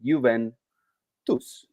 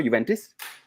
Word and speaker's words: Juventus: reminder bye our weekly reminder on how you pronounce correctly the name of the old lady Juventus with the not with the no Juventus Juventus welcome again that's it mm I need